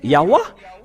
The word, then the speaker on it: Yahweh: Si vous avez écrit le Ya, ils doivent aussi mettre le terme A à la fin pour que ça soit Yahweh. Ils devraient prononcer Yahweh. Mais pourquoi ils ont resté au niveau de Yahoo?